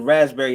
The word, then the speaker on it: raspberry: name raspberry how did how does the raspberry have a silent letter like they're like raspberry in there where'd the p come from so you're like oh